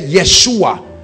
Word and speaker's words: Yeshua: means god our salvation that's where they get yeshua because they pronounce y for j yeshua that's why you